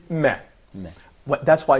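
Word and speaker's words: ميم: So, Okay, so when we pronounce meme in Arabic, it's close in pronunciation to M in English. It's the same meh.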